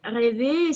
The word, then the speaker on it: rêver: Voilà, rêver, c'est aussi le est ouvert parce qu'il y a un accent circonflexe.